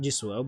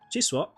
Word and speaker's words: Jisoo: That's how you say it actually. Not Jisoo, but Jisoo.